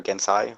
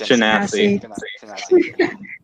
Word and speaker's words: Genasi: Because I think I've butchered. Midori? Okay. Yeah, My character's name is Midori. He is a Water Gensai Warlock. Huh? Yeah, it's Genasi.